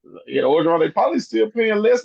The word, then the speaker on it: Orgeron: How you pronounce that man's name? Orgeron, they probably still paying Les Miles, probably.